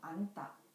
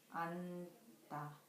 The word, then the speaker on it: 앉다: 니은, 지읒 can be the 받침, but it only has the sound of so we don't pronounce 지읒 sound. For example, 안다, 안다. The final consonant of 안 is 니은, 지읒, but it only has the sound of n.